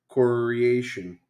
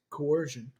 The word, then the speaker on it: coercion: withstand pration torture and coration here's what I found what she's always listening she's all coration here's what I found not a word not a word you're the correct pronunciation it's coercion yeah MH that's what